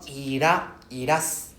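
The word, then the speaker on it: いらっしゃいませ: So we pronounce irashaimase. Right? Yeah, very good. We separate the S. We separate in between the S. So we took a pause. We take a pause in between the two S.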